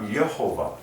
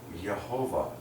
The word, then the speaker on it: Jehovah: the pronunciation of it it's uh yehovah you can even sofen the J into a why okay like yahovah very soft softer than Jehovah God is Sovereign and